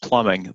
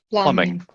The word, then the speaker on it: plumbing: okay and it's pronounced plumbing the b is silent plum no no b when you write it yes there's a b but the b is silent plumbing yep and when you've